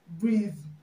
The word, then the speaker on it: breathe: breathing right breathing breathing okay but the right pronunciation is breathe breathe breathe okay breathing okay now this word